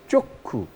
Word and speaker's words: চক্ষু: চক্ষু দীর্ঘ উকার, চ যুক্ত খ কয় ক্ষয় দীর্ঘ উকার র ওকার গ, চক্ষু রোগ, এবং উচ্চারণটা হচ্ছে চক্ষু।